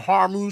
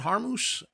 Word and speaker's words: Hormuz: explosions and the landmines and the Strait of Hormuz. Is that how you say it? Hormuz? Hormuz.